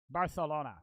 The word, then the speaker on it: Barcelona: say it's procedure Barcelona Barcelona isn't that how they say it I know in most Spanish countries a C is just a c but in bar it's Barcelona Barcelona time around 6:40 most